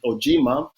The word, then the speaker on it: Ojimah: if you pronounce it ojima but you write it like ujima like u j i